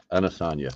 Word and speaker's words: Adesanya: Adesanya. That's right. Adesanya. Damn. All these freaking pronunciations sucks.